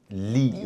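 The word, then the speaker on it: lide: But quickly, if you say like in Danish, you would probably not pronounce a D.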